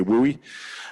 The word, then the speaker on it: WUI: So WOOI wildland urban interface um WUI as they call it in the states. We don't we can't pronounce that 10 times really fast so we just say WOOI.